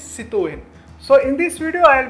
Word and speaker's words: Citroën: So as it's a French brand, the actual pronunciation is Citroën.